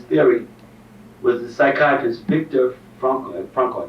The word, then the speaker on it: Frankl: So one of the top psychiatrists who has come forward with this theory was the psychiatrist Victor Frankl, I think it's called, Frank, F-R-A-N-K-L. Is that pronounced Frankl?